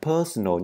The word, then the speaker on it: personal: My personal place, đây là personal nha, ở dài. Personal, các bạn đọc chữ N-N-A-L này, đọc uốn lưỡi lên một tẹo.